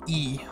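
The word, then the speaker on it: い: This looks like an I, and it is indeed an I, but it's not pronounced I, it's pronounced E. So if you see an I, it's an E. You're getting pranked. So you would see E like ill or electric.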